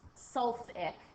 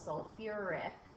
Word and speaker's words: sulfuric: it's binary and then some students will say suic but it is actually we add the extra syllable sulfuric acid so again think